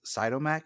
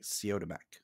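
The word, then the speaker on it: Siodmak: help me kurt uh i always pronounce it as cytomec but it's like co to mac okay okay i heard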